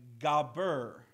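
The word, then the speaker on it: גבר: This one is, if I can pronounce it right, Gaber is how it's pronounced.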